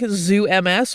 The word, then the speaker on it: ZooMS: They analyzed these shells using a type of biomolecular analysis known as, we think, ZooMS or Zooms. It's spelled Zoo and then a capital MS at the end.